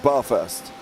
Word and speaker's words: Bathurst: now I'm from London we grew up not pronouncing the whole word anyway so this to us is called bar first right and a necklace